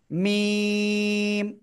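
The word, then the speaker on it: ميم: এরপরে আমরা যে অক্ষরটা শিখতে যাচ্ছি, এই দুই ঠোঁট থেকে উচ্চারণ হয়, কিন্তু দুই ঠোঁটের শুকনো অংশ থেকে, দুই ঠোঁটের শুকনো অংশ থেকে উচ্চারণ হয়। সবাই খেয়াল করবেন, এই যে অক্ষরটা, এই অক্ষরের নাম কি? মিম। মিম, চারে লিপ্টানে পড়তে হয়।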